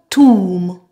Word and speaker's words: tomb: So in the words I will present, we will only pronounce the M, mm.